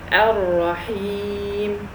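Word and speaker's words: الرحيم: So here I say Ar-Rahim.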